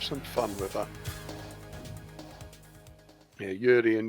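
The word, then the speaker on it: Juri: Yeah, Yuri and Uni, even though they're spelt with J's. It's showtime. They are pronounced Yuri and Uni.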